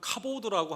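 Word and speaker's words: כָּבוֹד: 좀 발음이 좀 그렇죠. 독사 이렇게 되어 있습니다. 이 히브리 말로는 카보드라고 합니다.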